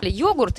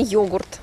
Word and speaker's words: йогурт: Йогурт или йогурт? Удобнее йогурт, но вроде как сейчас говорят, что правильно йогурт.